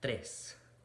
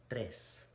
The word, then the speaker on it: tres: follows it immediately afterward so instead of tres bite the tip of your tongue and then make the r sound tres tres now let's look at